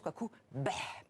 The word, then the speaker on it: Quoicoubeh: Et vous avez remarqué, donc il prononce Kwakubé, presque avec un E accent grave H.